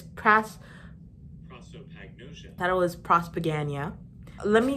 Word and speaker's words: prosopagnosia: But anyways, turns out I've been pronouncing prosopagnosia wrong. Prosopagnosia. So it's not prosopagnosia or whatever I was saying before. It's prosopagnosia.